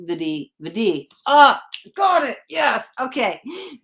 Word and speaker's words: Vidhi: It's literally just pronounced Vidhi.